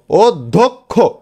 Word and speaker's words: অধ্যক্ষ: অধ্যক্ষ, তাহলে এখানে কিন্তু উচ্চারণ হচ্ছে না, ও উচ্চারণ হচ্ছে, তাহলে ও দা ওদ, ধোক, ধয় ওকার ক, ধোক, খো, ক্ষয় ওকারে খো, ও ধোক খো, তাই না এটা।